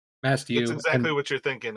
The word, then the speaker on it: Masthew: Mastayu? Masthew. It's Masthew. exactly And what you're thinking. It's like the ship, mast, hewn.